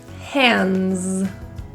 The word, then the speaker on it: hands: In the word hands, the D, it comes after an N. The S sounds like a Z. That D is deleted. Hands.